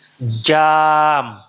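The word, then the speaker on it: jaam: a doit être tiré jam le a doit être tiré ça doit être ça veut dire esclave ça esclave l'autre C'est jam.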